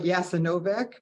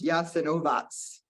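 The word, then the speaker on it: Jasenovac: um which was uh called it looks like yassanovic but it's pronounced yes and ovas and my grandfather's brother was murdered there I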